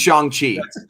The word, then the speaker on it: Shang-Chi: Because they've earned it's pronounced Shang-Chi.